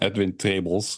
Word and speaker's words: Edwin Trebels: say it correctly yeah that's the Dutch pronunciation edin tables yep love that most